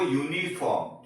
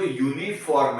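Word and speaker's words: uniform: ठीक है, पर उसका उच्चारण क्या होता है, वो यूनिफॉर्म। ठीक है, तो ये जो यूनिफॉर्म है तो वो हिंदी का कॉन्सोनेंट है, हिंदी का व्यंजन है, इसीलिए ये यू वॉवेल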